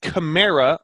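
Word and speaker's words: Kamara: it but Ingram Peterson and camara apparently as it was said throughout Monday night as it's supposed to be pronounced who are you keeping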